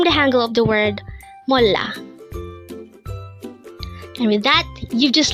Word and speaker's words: 몰라: Again, it's molla. This is pronounced as a two-syllable word. The first syllable is mol, second syllable is la. Pronounce it with me. It's molla.